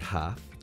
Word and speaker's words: half: In the word half, the L is silent.